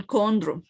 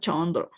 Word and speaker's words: chondro: so we pronounce it like like we were pronouncing and body right unless yes for example chondro not Chandra of course all right Keith not keep okay